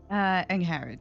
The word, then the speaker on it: Angharad: Angharad, yes.